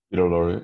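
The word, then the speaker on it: Peter Lorre: I liked the scene where how do you pronounce the actor's name is it Peter Lori Peter Lori yeah I thought he was fantastic yeah and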